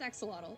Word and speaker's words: axolotl: So it's not technically pronounced axolotl, it's Asholot.